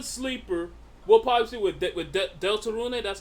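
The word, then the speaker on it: Deltarune: We'll probably with with Delta Rune.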